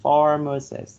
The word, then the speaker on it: pharmacist: Yes, okay, like the stress should be put on the first syllable, pharmacist.